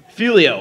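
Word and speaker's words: Figlio: No, but our name is Filio, and it's actually spelled with a G.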